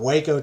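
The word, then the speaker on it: Hueco: And just to be clear, Waco, Texas is spelled W-A-C-O. When we're talking about Waco Tanks, it has more of a hua sound to it.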